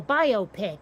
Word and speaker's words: biopic: no no no no you take bio biographical and picture stick them together you got yourself a biopic eh but over in